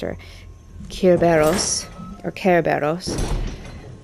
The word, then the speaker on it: Cerberus: Um, Cerberus as we know it pronounced or Kerberos or Carberos.